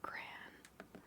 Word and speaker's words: crayon: Kind of looks like a crayon. Do you say crayon or cran? I always say cran even though I recognize the word is spelled like crayon.